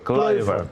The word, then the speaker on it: Kluivert: Kluivert apa Kluivert bacanya? Kluivert.